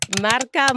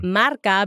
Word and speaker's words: MRK: It's Marca Marketing Consulting. But it's not spelled phonetically the way it sounds, right? Right. So it's MRK. Okay. But it's a play on words and sound too. Yeah, so Marca, because Marca means brand in Spanish.